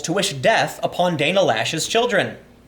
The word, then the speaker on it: Loesch: wish death upon Dana lashes children I always I'm always confused by why her name is Dana lash cuz it's spelled cloche you know and I've always called her that but Twitter Twitter reversed